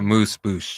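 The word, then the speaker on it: amuse-bouche: A moose boosh. Oh, moose. A moose? A moose. Moose. A Like moose. moose. A moose boosh. Like Mooze, like pronounced like moose.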